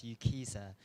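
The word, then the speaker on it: UKCISA: I'm from UK Council for International Student Affairs known as UKISA. If it's easier rhyme with visa, that's how I usually introduce our organization.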